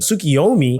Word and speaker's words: Sukiomi: Sukiomi, which I actually realized that's how you pronounce this from the official Final Test live